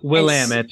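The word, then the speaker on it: Willamette: wine drinkers and our favorite wine region is Willet Valley yes Willam it is how we pronounce it here in Oregon but Willam Willam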